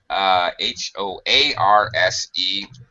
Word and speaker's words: hoarse: But, of course, keep in mind that's H-O-A-R-S-E. You have a hoarse voice, so it's spelled differently. Pronounced the same. It's a homophone.